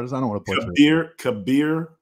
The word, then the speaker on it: Kabeer: I just don't want to put Kabeer, it. Kabeer, the G is silent.